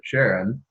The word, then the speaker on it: Charon: beginning of both so most American English speakers will pronounce it Sharon because you're paying respect